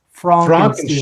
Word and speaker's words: Frankenstein: Okay, hey, it's pronounced Frankenstein.